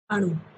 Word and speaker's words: अणु: अणु।